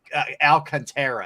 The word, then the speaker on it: Alcantara: Alcantara, who I always want to call him Alcantara. It's Alcantara.